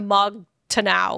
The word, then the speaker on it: Mog Taranau: key to get into Mog Taranau or whatever. Mog Taran. Taranau? I don't know how to pronounce it. It is MAAGTARANAU. So I'm going to say Mog Taranau.